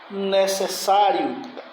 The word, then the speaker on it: necessário: Necessário, palavra muito comum na redação. Erro. Necessário. Sílaba forte. Vamos botar mais para cá, pessoal. Necessário. Sílaba forte é a penúltima.